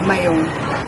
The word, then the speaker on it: Mayon: Mayon bagong lahat tawagin natin ang bulkan sa tunay niyang pangalan na Mayon Pinalitan ng mga Kastila sa Mayon Kasi hindi nila kaya sabihin yung letra G sa mga Amerikano naman ang pinakamalapit na pronunciation dito ay mayonnaise pero kahit ganon alam naming mga Bicolano na ang pangalan ng bulkan ay mayong at upang may local